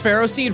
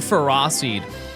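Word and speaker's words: Ferroseed: Who calls ferro seed feras seed? People who know the correct way to pronounce it.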